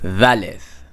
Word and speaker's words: Dalet: You would pronounce this like you say this, that, th, valeth. Notice fricative, valeth.